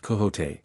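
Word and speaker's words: Quixote: Misfortune to know that the gentleman's name is pronounced coot when ignorance from out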